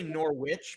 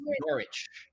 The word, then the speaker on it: Norwich: i want to say norwich but i know it's norwich with just art there's no w nor norwich well it's spelled n-o-r-w you don't pronounce the w there's all kinds of